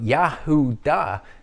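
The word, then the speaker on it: Yehudah: yah who da okay it sounds like the word yahoo ah doesn't it but yahoo da is different in an important way it has a dalet a d between the ooh and the ah that's why we can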